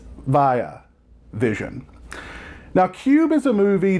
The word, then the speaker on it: Via Vision: over at via vision not be a vision which is how i pronounced it in my last video in which i discussed the fly ultimate collection blu-ray set it's via vision now Qube is a